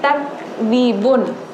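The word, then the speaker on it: تكذبون: Tapi di sini takzibun. Takzibun kaf bukan ta. Bukan yang seperti kita ngomong tak boleh tacam tuh. Tapi tak takzibun seperti itu.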